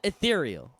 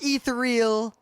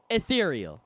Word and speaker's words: Ethereal: so there used to be a program called ethereal not etheral yeah it's I had an argument with a c pronounced ethereal if you pronounce it any other way you're